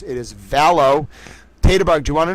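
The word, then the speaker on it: Vallow: It's Lori Valow. It's cuz I saw the E L O W and I was mispronouncing it as Dell because I had an association with those letters. It is Valow.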